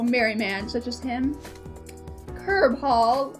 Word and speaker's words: Cearbhall: man such as him curb hall i think it's pronounced is the family name